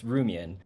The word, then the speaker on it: Rumion: You can just, it's Rumion. Okay. It doesn't have to like rhyme with the John.